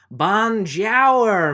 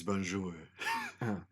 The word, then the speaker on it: bonjour: a french guy yeah you have to also pronounce it in the appropriate tongue how do you say hello again well bon jour me amora it's bonjour it's bonjour all